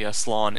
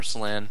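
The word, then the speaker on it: Slann: I'm especially interested about the slan. Is it slan or slan? I think it's supposed to be pronounced slan.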